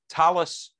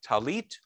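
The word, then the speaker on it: טלית: The word for the prayer shawl in Ashkenazi would be talis, and in Sephardic talit.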